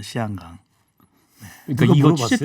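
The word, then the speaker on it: 香港: 네, 홍콩이 그 현지 발음으로는 홍콩이 아닌 건 아시죠? 시안강입니다. 시안강.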